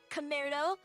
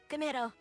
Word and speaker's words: Commaredo: And it is pronounced Ka, as in like cousin, but it's Ka. And then we have mare, which, if you guys are into horses, you should know that a mare is a female horse.